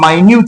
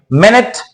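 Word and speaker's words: minute: इसकी एक दूसरे प्रोनंसिएशन भी है। इसको हम माइन्यूट भी बोलते हैं। मिनट माइन्यूट।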